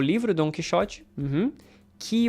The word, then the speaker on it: Quixote: It rhymes. Quixote, pichote.